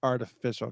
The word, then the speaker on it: Art Official Age: posted that show that was like oh it's artificial got it i mean but okay so let's